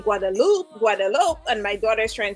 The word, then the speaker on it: Guadeloupe: Well, it was said properly. It's really Guadeloupe. Guadeloupe. I was correct. Yes, Guadeloupe. Yeah. I've never been to Guadeloupe before.